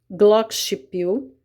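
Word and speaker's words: Glockenspiel: agudo ou mais grave o Glock pil você deve pronunciar Glock pil o xilofone o metalofone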